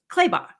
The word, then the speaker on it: Clabaugh: My last name is Clabaugh, and it rhymes with Slaybaugh.